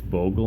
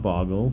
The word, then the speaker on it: Bogle: Bogle yes everybody its Bogle not boggle please don't pronounce it with 2 g's it only has one